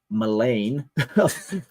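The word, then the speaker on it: mélange: These malfunction breeds of grotesque melange.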